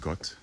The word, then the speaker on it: Ghaut: This is a gut, spelled Ghaut. We pronounce it gut.